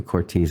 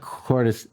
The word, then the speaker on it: Courtice: Proctor twitting the quartus I know you guys call me Cortese I always mispronounced my name I'm sorry Constructor called it said quarters he said you're not